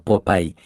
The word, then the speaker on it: Popeye: Empecemos por decir que el nombre de Popeye en realidad es un vocablo inglés que se pronuncia como Popeye y significa ojo saltón,